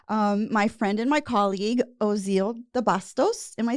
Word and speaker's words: Ozeal DeBastos: So I want to present to you all my friend and my colleague, Ozeal DeBastos.